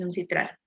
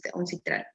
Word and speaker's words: UNCITRAL: La ley es uncitral o normas uncitral. Puro arbitraje internacional. Esto es base top. Se dice las leyes son citral. Uncitral. Uncitral. In English, will be pronounced like ancestral. Ancestral.